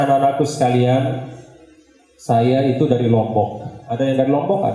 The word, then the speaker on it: Lombok: sebelumnya lombok itu ya lombok itu sering dipahami bahwa lombok itu artinya cabe padahal bukan itu maksudnya jadi lombok itu dari bahasa asak lombokah Lombok pengucapannya Lombok tapi kan tertulisnya lombokah Apa arti lombok lombok